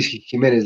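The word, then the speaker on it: Ximénez: corrige shy jiménez porque se escribe con x si se pronuncia como méxico que se escribe con x pero se pronuncia con jota si jiménez lo dices muy bien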